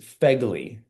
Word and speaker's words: FEGLI: But this is FEGLI, right? That's how you say it.